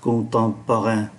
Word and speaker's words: Contemporain: Ký tự M này cũng phát âm là N khi đứng trước P. Viện bảo tàng nghệ thuật đương đại, Le Musée d'Art Contemporain.